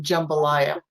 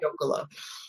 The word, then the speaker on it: Jockola: and asked for Jambalaya. How they get jambalaya out of Jockola, I do not know, but the correct pronunciation is Jockola.